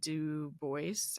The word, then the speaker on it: Du Bois: Du Bois. I think the S is pronounced for some reason.